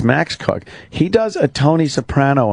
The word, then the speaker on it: Koch: It's spelled like cock, like Jim Cook spells it, Koch. But it's Max Cook.